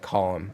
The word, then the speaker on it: Colm: Colm is said like Colm.